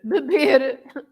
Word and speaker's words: beber: falar or fazer, sorry, beber. Yeah. I missed the R. Beber, comer, etc. Any verb with the R at the end, you can you should pronounce as r, r.